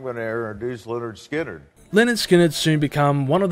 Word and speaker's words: Lynyrd Skynyrd: the band would release their debut album called pronounced Leonard Skinner with their first single band Gimme Three Steps